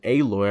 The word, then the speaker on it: Aloy: you know this this girl you have is aloy I believe that's how you say it uh